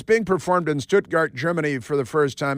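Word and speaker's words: Stuttgart: going to say keev you got to say stutgart because that's how they pronounce it there and they're always yelling why are they always yelling so it's being performed in stutgart Germany for the first time in a 100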